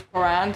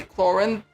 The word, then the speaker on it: Clorinde: Anyway, Paimon definitely accident on the wrong syllable because all French words are, I believe, accident on the last syllable unless they're otherwise. So it is Clorinde.